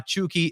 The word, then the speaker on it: Chucky: pronunciation for chuki and it's exactly like that it is c h o and then key uh for them so